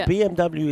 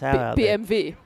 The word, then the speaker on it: BMW: So BMW is actually pronounced BMV. Yeah. So it's like a V really.